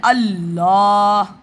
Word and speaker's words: अल्लाह: जैसे कोई भी शब्द है जैसे अल्लाह अल्लाह तो डबल लाम आया अल एक अलिफ और लाम में जुड़ गया।